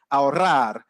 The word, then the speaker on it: ahorrar: But in Spanish, they'll say things like carro. They would say things like ahorrar. And, that really strong sound.